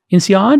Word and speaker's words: INSEAD: INSEAD is how you pronounce it?